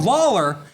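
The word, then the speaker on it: Lollar: And he's called Lawler because that's what he's going to make you do. He will make you lol.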